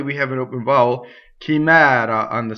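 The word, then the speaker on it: chimera: So this is chimɛra. Notice the single R, not chimɛra. That's a common mistake.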